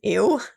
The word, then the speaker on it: Uwe: and this poor kid his name was ew UWE but you pronounce it you poor kid so not only did